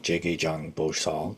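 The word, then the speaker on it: 지장보살: Chinese name the uh Sono Korean pronunciation is is J gay Jang bosal Jay Jang bosal this is how to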